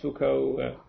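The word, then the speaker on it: Foucault: fal's pendulum fuko's pendulum I never quite know how to pronounce it Fuko is the philosopher do you also pronounce Fuko you guys probably know the physicist it's fuk I assume not it's Fuko they're all Fuko okay good um okay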